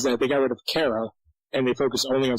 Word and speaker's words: Kara: And that's what really made that show interesting, especially in season 1, was seeing Kara, the person, deal with having an alter ego now that... Excuse me, her name is pronounced Kira.